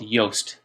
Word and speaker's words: Yoast: WordPress for SEO is called Yoast rhymes with toast what's with the why why o ast and this plug-in actively